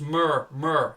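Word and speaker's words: Murr: It's Mur, M-U-R-R. Yeah, I know, I just can't pronounce it, mate.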